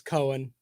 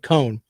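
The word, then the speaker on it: Coan: I think it's Cohen, C-O-A-N. I think you pronounce it Cohen.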